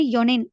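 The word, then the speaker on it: 四年: சன்னன் அப்படின்னு போகக்கூடிய இதாய்க்கும் நான்கு வருடம்ன்றது மட்டும் கொஞ்சம் டிஃபரென்ட் ஆகும் இப்ப நான்கு அப்படின்றதுக்கு யோன் அப்படின்னு சொல்லப்படுது ஆனா இந்த இடத்துல இன் கட் பண்ணிட்டு யோனின் அப்படின்னு சொல்லப்படும் ஓகே ஹவ் மெனி இயர்ஸ்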